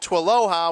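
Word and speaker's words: TWLOHA: you could pronounce it to Aloha which rhymes with Aloha so we got the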